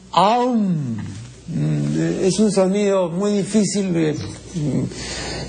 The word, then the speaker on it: om: la sílaba Sagrada a se escribe om pero no se pronuncia om no sino aum es un sonido muy